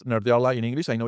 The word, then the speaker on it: Nerdearla: Okay, so this is how we pronounce Nerdla in English.